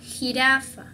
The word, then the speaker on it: jirafa: Esta es como la G para ustedes, se dice J, ¿ok? Por ejemplo, jirafa, jirafa.